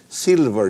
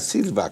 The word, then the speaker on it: silver: Be sure you pronounce it right. Silver, not silva cord, okay?